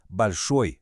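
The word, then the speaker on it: большой: Balchoi. Balcho com a força no final.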